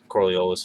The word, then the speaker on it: Coriolis: There's many, people pronounce it so many different ways, but that's how I say it, Coriolis effect.